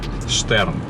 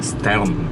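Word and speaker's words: Stearns: Вот это, кстати, пирс, их старинный там дальше, главный, Штерн, или Стерн правильно произносится.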